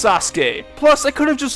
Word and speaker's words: Sasuke: But what's worse is that even following the vowels, I still didn't pronounce it right, since the last syllable in his name should be K rather than Ki.